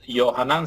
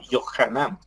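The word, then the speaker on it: יוחנן: J aspersada es decir no es johanan sino yohanan ya cada vez que ustedes vean ch en una traducción hebrea es una J pronunciada de forma aspersada es decir áspera en este caso nacimiento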